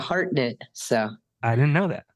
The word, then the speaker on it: Hartnett: I don't even know your last name really really it's it's a heartnet so I didn't know